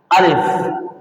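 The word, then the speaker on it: ألف: এই যে প্রথমে এটা দেখতে পাচ্ছেন, এটার নাম হলো আলিফ। এটার নাম কি? আলিফ। আলিফ, আলিফ, আলিফ, আলিফ।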